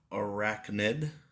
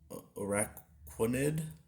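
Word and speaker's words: Araquanid: happens we got noibat arachnid araquinid that's how it's pronounced and that's also a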